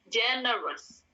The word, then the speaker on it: generous: sabar next ada generous bacanya generous Saya ulangi genous o-nya hilang jadi e o u itu dalam bahasa Inggris diganti menjadi e jadi generous gitu r-nya tetap dibaca setengah